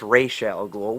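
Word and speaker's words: Ra's al Ghul: um and then Oliver is razal ghoul or a lot of people are going to say well it's Rael ghoul well I'm calling him razal goul okay because that's how I've always known to pronounce him was razal goul hell even if Batman Begins they called him RZ and not R so you know what yeah that's I I call him razal gou but anyway Oliver goes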